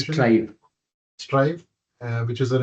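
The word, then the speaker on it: Straive: So quick introduction again uh Anand is uh head of innovation at stray strafe is that right pronunciation strive strive uh which is an enterprise AI u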